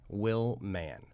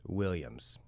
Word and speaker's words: Willman: Justin Willman is my Instagram. That's my name, and you look it up, you'll find me. Willman, Justin Willman. People often think it's Williams.